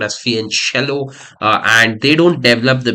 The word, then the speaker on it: fianchetto: It's written as fianchetto, but it's pronounced as fianchello.